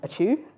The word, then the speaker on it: Ochu: yeah I'm and auu my surname is pronounced like a sneeze so auu and um you can